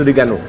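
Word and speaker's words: oregano: कैसे करते हैं, तो मुझे मालूम नहीं था ओ साइलेंट होता है। Then I learn through a comment कि ओ साइलेंट होता है, दिस इज़ रिगैनो।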